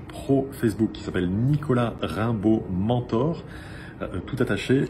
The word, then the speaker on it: Raimbault: Alors, elles peuvent me trouver sur ma page pro Facebook qui s'appelle Nicolas Rimbaud Mentor. Tout attaché, Rimbaud s'écrit R-A-I-M-B-A-U-L-T.